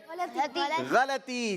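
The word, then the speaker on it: ग़लती: गलती खुद एक गलती है, लिहाजा गलती नहीं कहेंगे, क्या पढ़ेंगे? गलती। जी, सही प्रोनाउंसिएशन है गलती और जवाब बिल्कुल दुरुस्त है।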